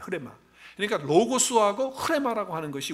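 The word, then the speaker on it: ῥῆμα: 하나는 로고스라는 단어를 쓰고 있고 하나는 여러분이 알고 있는 레마. 근데 레마인데 사실은 정확하게 발음하는 흐레마예요. 흐레마.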